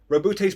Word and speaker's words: Roboute: Back to Roboute. That is how you pronounce his name, by the way.